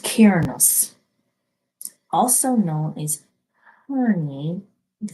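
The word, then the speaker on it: Cernunnos: So let's move on to our blue heart, which has Cernus, life force. Express your driving passion. Sensual and sexual powers are increased. Connected pan. This always reminds me of pan. It's pronounced Cairnus, also known as Herni,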